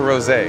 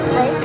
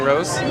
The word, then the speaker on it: Rose: Is it Rose or Rosé? Rose. Is it just plain Rose?